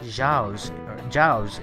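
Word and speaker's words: 饺子: Jean says it's pronounced Jiao's in English.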